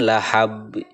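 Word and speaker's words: لهب: Kemudian lahab. Nah, ini adalah qalqalah kubro ya, qalqalah kubro. Cara membacanya itu memantulkan huruf qalqalah ya dengan benar-benar jelas, besar dan tebal.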